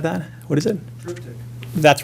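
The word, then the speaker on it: triptych: He painted himself this tripart tide if I'm pronouncing it right. Uh I know I'm not. He he pronounced it differently. Sorry, somebody said that. What is it? Tryic.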